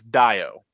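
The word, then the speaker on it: Dayo: I know for a fact his first name is spelled, it is pronounced as if you were looking at it DYE -O. So it's Dio.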